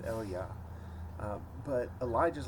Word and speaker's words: Elijah: this shows up elijah his name was probably pronounced eliyah but elijah is like